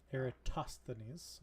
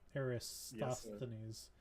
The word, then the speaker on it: Eratosthenes: Eratosthenes or Aristotle. Sure, whatever you want to say. Well, those are two different people. I was correcting you on how to say it because Eratosthenes. It's Eratosthenes.